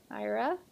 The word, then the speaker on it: Aira: so there she is IRA and then is how you pronounce her name I checked Lego actually